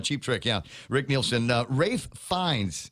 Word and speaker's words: Ralph: Rafe Fines. It's spelled Ralph, but he likes it pronounced Rafe is Ray.